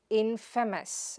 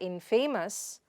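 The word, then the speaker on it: infamous: Similarly, it is in-fa-mes and not infaimos, but in-fa-mes.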